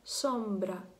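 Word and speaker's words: sombra: Якщо це, наприклад, українець, то часто наші вимовляють так цей звук. І я чула по собі. На початку завжди дуже я довгий час так вимовляла, як «с». Наприклад, «сомбра», «сомбра», «сомбра», я казала. А треба казати «сомбра», «сомбра», м'якше так, шепелявимо, коротше, трохи.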